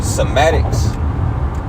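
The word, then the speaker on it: cymatics: into uh I believe this a word called somatics see somatics yeah somatics it's spelled c-y-m-a-t-i-c-s right somatics and you know you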